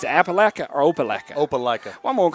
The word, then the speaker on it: Opelika: Appalachia. It's Appalachia or Opelika? Opelika.